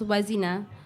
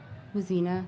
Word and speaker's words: Wazina: friend reminds me luzina your name isn't was inna was inna there's no question mark at the end of your name it's was inna it's was inna the